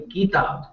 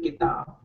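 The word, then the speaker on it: किताब: I mean, I've, you know, so it's like kitab. When you say kitab, there's a key, E sound in it, soft mm-hmm.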